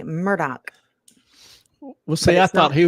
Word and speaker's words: Murdaugh: well yes Catherine it's it's phonetically murdaugh but pronounced as clay should know because he's Scottish as in my Murdoch well see I thought